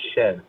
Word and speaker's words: Shead: You said Shead. I believe it's pronounced Shed.